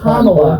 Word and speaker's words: Kamala: Okay, it's Kamala. Are you that stupid you can't pronounce her name right?